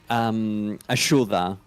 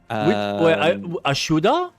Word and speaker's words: ayuda: I mean, there's some of the words like ayuda. So help. Ashuda? Yep. Oh, so instead of ayuda, it's ashuda.